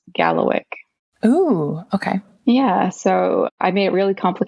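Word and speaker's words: kalawikk: is actually Diamond but in migma it's k a l a w i k k and it is pronounced Gallo o okay yeah so I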